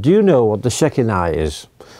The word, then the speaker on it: Shekinah: I was using the Chinese pronunciation. It's called the Shekinah.